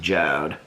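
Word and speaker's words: Jord: here they're still up it's j-o-r-d but it's pronounced jode and the last time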